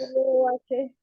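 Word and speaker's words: rho: R-O-H. La H es muda.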